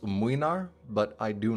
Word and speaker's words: Mlynar: Then there's Gregory with Mlynar, and yes, I know it's pronounced Mwynar, but I do not care.